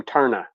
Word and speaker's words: Taarna: My oldest boy, Chris, if he would have been a girl, I was going to name him Tarna, which is the girl at the very end of the movie.